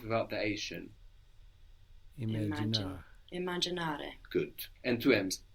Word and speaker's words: immaginare: Lo voglio immaginare. Non lo voglio immaginare. Non voglio immaginare. Immaginare. Non voglio. Good. To imagine. Now, imagine has two M's in Italian, and you will pronounce those both.